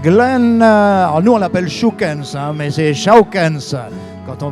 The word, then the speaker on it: Schoukens: Alors nous on l'appelle Schoukens, mais c'est Schoukens quand on veut prononcer comme il faut.